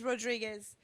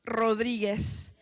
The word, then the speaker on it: Rodriguez: terrible with last names my last name is Rodriguez and I'm pronouncing it like a gringo it's actually Rodriguez but but yeah um